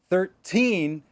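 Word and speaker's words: thirteen: the difference is that 13, anytime you have a teen, the teen is going to be louder.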